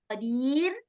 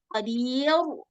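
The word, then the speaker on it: قدير: Nah, dia baca tebal. Seharusnya tipis, qadir. Gitu seharusnya bacanya.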